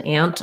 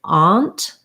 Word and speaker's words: aunt: Some people on the East Coast, maybe in the South, a few other places will say aunt. Yeah, so they use the ah vowel, and it looks more like this, aunt.